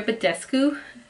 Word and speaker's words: Badescu: I use the MAC Fix Plus when I apply makeup or whatever, but this one, Mario Badescu, that's how you say it, facial sprays work really good.